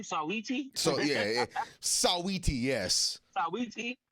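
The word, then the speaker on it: Saweetie: Sawiti.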